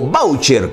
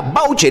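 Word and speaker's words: váucher: significado ahora de voucher esta palabra es inglesa se escribe en teoría voucher pero esta calle está ni castellanizada perdón como voucher con tilde en la a vv a voucher en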